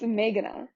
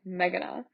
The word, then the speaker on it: Meghana: It's Meghana. Wait, what? Wait, say it again. The way most people say it is like Meghana. Which is like just all like they're the same.